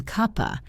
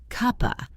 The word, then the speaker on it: cup of: Cup links to become cuppa. And of is pronounced with a schwa, so it is just cuppa.